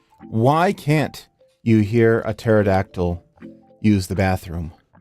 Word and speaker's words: pterodactyl: can't you hear a pterodactyl use the bathroom because the p is silent hi guys I am